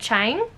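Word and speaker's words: Chiang: got is exhalation by ted ted chang that's how you pronounce it uh it is a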